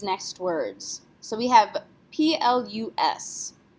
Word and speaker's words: plus: So we have P-L-U-S. How would you say that letter in French? What do you think? S is not a careful letter, so we would pronounce this plus.